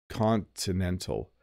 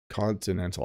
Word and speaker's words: Continental: please pronounce Continental Bob I heard people don't really pronounce the letter T Continental Continental I don't turn my te's into D's with Continental so when you go to a hotel if there's a free breakfast in the morning we call it a continental breakfast Continental I'm definitely hitting the teas and pronouncing the te's with Continental um mode says gold